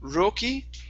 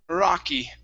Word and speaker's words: rocky: here the word is instead of being roki it's rocky rocky rocky or rocky great great nice job